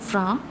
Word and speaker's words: francs: So this one in French is 5 francs, that is 5 franc. This one in French is 25 francs, that is 25 franc.